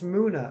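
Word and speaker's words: Munna: you pronounce m-u-n-n-a is it moona or mana daylight is always positive when she's got ice cream that's right it's moona okay thank you daylight or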